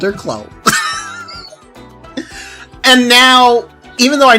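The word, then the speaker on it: Kloe: I wasn't sure exactly how to pronounce her name. I opted to call her Chloe. Yeah. Yeah, that became her name. Sounds like Chloe. It probably is supposed to be Chloe.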